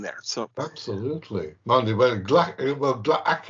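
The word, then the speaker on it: Gla'aki: Mind you, Glaki is technically the way to pronounce the old guy, I think, because there's an apostrophe in there.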